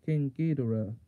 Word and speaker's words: King Ghidorah: Godzilla versus King Ghidorah. Yes, that is how it's pronounced.